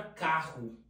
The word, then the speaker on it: carro: É o que ocorre, por exemplo, na palavra carro. Você escreve com dois R, mas pronuncia como se tivesse apenas um. Outra palavra, pássaro.